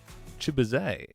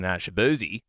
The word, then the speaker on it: Chibuze: His real name is Colin Chibuze. I've been saying it wrong? No. People were saying his last name wrong his whole life. They were saying Shabuzi.